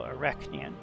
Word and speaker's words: Arachnean: But the emphasis is definitely on the second syllable, so Arachnean.